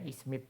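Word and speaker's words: إثمد: Intinya bacanya ismit ya. Hamzahnya dan mimnya dikasrh. Tengahnya yang bertitik tiga. Musalasah itu titik tiga disukun.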